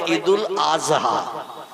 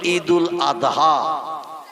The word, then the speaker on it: ঈদুল আদহা: ঠিক তদনুরূপ ঈদুল আদহা এ শব্দটা হলো শেষে দোয়া উচ্চারণ করতে হয়, কিন্তু ওরা বলে ঈদুল আজহা। কি বলে? মানে জয় অক্ষর উচ্চারণের মতো আওয়াজ করে বলে। আমরা বলি ঈদুল আদহা, কোরবানির ঈদ।